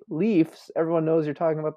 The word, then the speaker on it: Leafs: It's pronounced Leafs. That's how you say it, even though that's grammatically wrong.